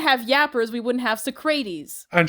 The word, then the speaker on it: Socrates: Is that not how you Is that not how you pronounce that? It's It's It's Socrates.